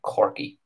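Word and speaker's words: Corkey: that village is called corki c-o-r-k-e-y corki which is exactly the way that's pronounced in the ulster dialect again probably named after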